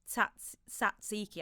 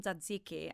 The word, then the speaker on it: tzatziki: I wouldn't say the way that an English person would say it, but that's because I'm Greek.